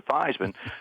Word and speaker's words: Theismann: we think just by changing the pronunciation of your last name from thieman to Theisman to Ryme with Heisman we think we can